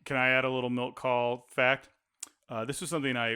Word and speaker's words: Milt Kahl: Milt Kahl. Thank you. Milt Kahl.